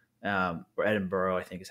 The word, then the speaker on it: Edinburgh: UK, you could fly from Belfast, Manchester, Liverpool, Edinburgh, or Edinburgh, I think is how they pronounce it over there, and London.